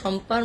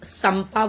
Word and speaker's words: শম্পা: Like SH উচ্চারণটা, প্রনাউন্সিয়েশনটা তালবস স হিসেবে হয়, আর এটা স মানে দন্তের সতে হয়। তো হিসাব মতন এটাকে সাইক্লোন সাম্পা বলবো।